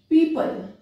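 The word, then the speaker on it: people: इसके बाद में ओ कहां साइलेंट होता है, वैसे तो ओ साइलेंट के कोई ऐसे खास नियम नहीं है लेकिन फिर भी देखिए इन वर्ड्स में पीपल पीपल, अब ये पीओ पल नहीं बोला जा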